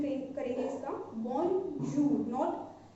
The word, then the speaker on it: bonjour: Okay, यहाँ पे हम इसको क्या प्रोनाउंसिएशन करेंगे इसका, बोंजूर, नॉट, बहुत सारे लोग इसको देख के बोलेंगे बोंजूर, बट यहाँ पे ज नहीं आएगा।